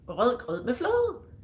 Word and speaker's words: rød grød med fløde: So Jürgen is asking, how do you pronounce rød grød med fløde? It's that easy. Rød grød med fløde. Everybody can do it. You just gotta put your tongue a little bit out there.